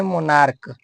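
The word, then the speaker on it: monarch: और दूसरा देखना है कि लास्ट लेटर सी एच हो लेकिन सी एच का उच्चारण क होना चाहिए।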